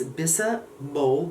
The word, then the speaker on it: bisabolol: Then there is shea nut extract, bisabolol, I can't really pronounce that. It's bisabolol, B-O-L-O, that's hard for me, which is actually a very nice ingredient.